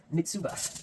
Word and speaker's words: mitsuba: so there goes Lage next up is mitsu I spell that mitsuba it's actually a t in there mitsuba Japanese parsley okay okay